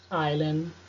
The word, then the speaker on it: island: Bom, temos agora o S, que fica mudo nas seguintes palavras. Island, Isle, Isle.